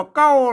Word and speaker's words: เกล้า: บ่ อ่าน นะ ครับ อัน นี้ เ อ่าน ว่า เก้า น มัน มัน ถ้า ถ้า เป็น อัน ภาษา ไทย เปิ่น เอา ตัว ละ มา ก เป็น เกล้า นะ ครับ เกล้า หมาย เกล้า